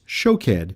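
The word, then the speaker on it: שׁוֹקֵד: almond is shaked and the Hebrew word for watch is show ked these words sounds similar and in the Hebrew they are spelt the same just pronounced a bit differently just like in the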